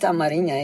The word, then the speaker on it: Amarinya: Yeah, but actually we call it Amarinya. In English, it's called Amharic. Oh, in our language, it's called Amarinya.